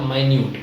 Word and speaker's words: minute: और दूसरा उच्चारण है इसका माइन्यूट।